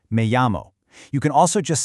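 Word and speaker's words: me llamo: Now, that double l makes a y sound, so listen close. It's pronounced me amo.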